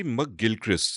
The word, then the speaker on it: McGilchrist: the name yeah yeah it's actually M Gilchrist so if you know Adam Gilchrist you can say Ian M mcgilchrist but just putting those two syllables together makes it it's a sound thing also it's absolutely a